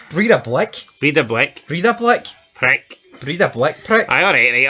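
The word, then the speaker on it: Breiðablik: Repronounce that? Breidablik. It's Breidablik.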